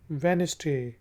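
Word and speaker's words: Wednesday: मंगल ट्यूसडे ट्यूसडे बुध वेनसडे D silent है वेनसडे जुमेरात Thursday Thursday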